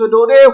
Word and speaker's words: Daudet: This T is not pronounced, and this pronouncing, this is like O, do, de. T is not pronounced, it is a silent.